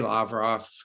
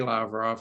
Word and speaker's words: Lavrov: Sergei Lavrov. I met with Sergei Lavrov, and Lavrov said this to me, Lavrov.